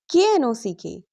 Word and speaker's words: knock: If a word starts with KN, pronounce only N. Examples. K N I F E. Knife. K N E knee. K N O W No. K N O C K knock.